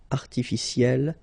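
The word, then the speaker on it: artificielle: Artificiel will become artificiel. You pronounce it the same way, but then you double the L and then you put at the end.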